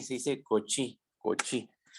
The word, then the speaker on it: Cauchy: No se dice Cauchy, se dice Cauchy.